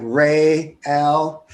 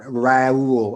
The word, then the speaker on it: Real: your name wrong uh it's real not real you know it's like rey l yeah right have you gotten so used to it um yeah and actually i guess the code it's the real deal not raul or real but yeah no i